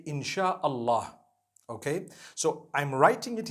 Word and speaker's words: Insha'Allah: They pronounce the S-Y the way we pronounce S-H. So they can write it how they want, for as long as when people read it, they read it Insha'Allah.